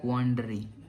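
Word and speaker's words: quandary: क्वाडरी क्वांटरी pronunciation देख लेना यार।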